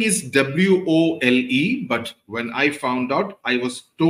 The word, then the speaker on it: Wole: His spelling is W-O-L-E, but when I found out, I was told that it is pronounced as Wole Soyinka, okay, as in W-O-Y-E.